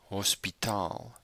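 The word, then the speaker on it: hospitaal: it is hospital so take note of the longer a sound and where the emphasis is on English it's hospital but in Africans it's hospital so the emphasis is on a different syllable so that's a very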